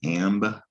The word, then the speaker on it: amber: that's a b there if a hair comes along to this word might zip through and see the ending and add an l right it's very common for readers like the hair to add an l where there isn't an l and that might make